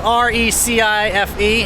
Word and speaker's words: Recife: This is what I've been learning that R is an H sound. So, so it's spelled r e c i f e, Recife is how it's pronounced.